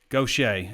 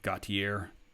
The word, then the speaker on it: Gautier: make quarterback look good gaucher is how to pronounce gautier gottier gautier i knew it couldn't have been that usually it's like the